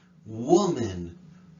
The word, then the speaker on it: woman: you say that word woman woman woman very difficult word the m-a-n sounds like men men like it it like win which woman was able